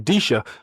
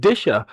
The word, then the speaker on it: Disha: Ah disha that sounds actually I was pronouncing it incorrectly so I was saying disha but disha that does sound a lot more accurate there Mr.